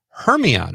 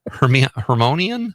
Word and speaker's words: Hermione: Uh, Paula Creger Conrad's mom says Emma Watson as Hermione. Am I saying that right? I didn't see that. Hermonian. Hermonian. Her. What is that word? Hermione. Hermione. Yes. Is that how you say it? Yeah.